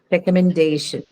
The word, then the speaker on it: recommendation: The second last one, that is day. Recommendation. The one before the suffix shin.